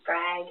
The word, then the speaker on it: Sprague: I call this man, I say Sprague, and it is not Sprack or something the wrong way.